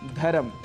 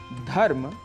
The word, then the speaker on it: धर्म: शुद्ध उच्चारण है गणपति इसी प्रकार कहीं-कहीं हम स्वरों को जोड़ भी देते हैं जैसे जन्म जैसे कर्म जैसे धर्म जबकि इनके शुद्ध उच्चारण हैं जन्म धर्म और कर्म ऐसे ही उच्चारण को